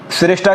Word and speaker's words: SHRESHTA: साथियों, इसकी हम श्रेष्ठा की स्पेलिंग की बात करें, SHRESHTA, इसको श्रेष्ठा बोलते हैं।